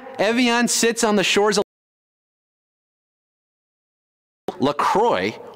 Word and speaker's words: LaCroix: sits on the shores Croy or Lacroix if you want to be French about the pronunciation is actually headquartered in